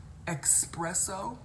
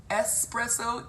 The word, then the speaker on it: espresso: is that is annoying um expresso what's what like the drink espresso ESP re SS Oh expresso piggybacking want that